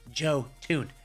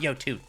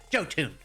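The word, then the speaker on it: Jötunn: if you're using this shame on you why why are you using the joe tune and yes it is pronounced joe tune not yotune joe tune okay the number 10 most used weapon this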